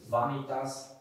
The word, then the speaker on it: vanitas: vanitas, vanitatis, but changes the place of accent. Here is the, on the first position, vanitas, vanitatis, infix of vanitatis. Vanitas, and the in the nominative is on the first syllable, vanitas, vanitatis, on the penultimate position.